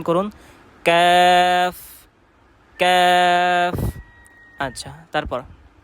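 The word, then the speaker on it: ق: তো জিহ্বার গোড়া থেকে একটু আগে বাড়িয়ে তার বরাবর উপরে তালুর সঙ্গে লাগিয়ে কাফ উচ্চারণ করতে হবে। জি উচ্চারণ করুন, কাফ কাফ।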